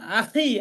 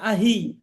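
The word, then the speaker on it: أخي: যেমন আখি, আমরা আখি বলি, আখি মানে ভাই, তো বলে আহি, জি আখিকে আহি বলে।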